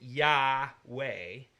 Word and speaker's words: Yahweh: that make up the word Yahweh if you pronounce it yah way you are saying he who causes to be